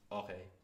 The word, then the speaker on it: oreille: But oreille is how you say it normally, but it allows you to understand how the phonic structuring of the word is going.